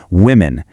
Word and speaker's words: women: The singular is woman, but the plural shifts the sound. So, the O actually sounds like an I. It becomes women.